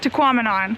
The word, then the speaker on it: Tahquamenon: Rhymes with phenomenon. Yeah, they had a sign up front that said that. So I feel like that made the perfect connection, and now we can say it. Tahquamenon.